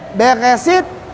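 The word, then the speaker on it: בראשית: Ini bacanya Beresit, Bara.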